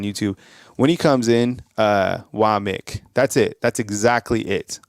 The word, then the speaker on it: Wommack: So it's Wamik. But it's spelled WOMMACK. But it's Wamik.